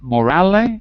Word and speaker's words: morale: One second, is it morale or morale? It seems... In Italian. Yeah. In Italian it's morale, but in English you don't say the final E.